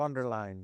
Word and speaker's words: von der Leyen: I'm talking about Ursula von der Leyen. Uh if I hope I pronounced her name correctly. von der Leyen.